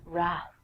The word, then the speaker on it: wrath: Trek fans out there rap famously the Wrath of Khan I have no idea what the Wrath of Khan is but I will tell you that the W is silent so don't say it next one is right